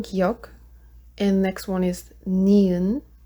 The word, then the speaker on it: 니은: And next one is 니은. That makes the sound like N, so name.